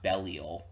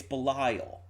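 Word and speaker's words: Belial: __ ] she said it's B not bellal it's like what no one says bellal it's Bal it's like gez I think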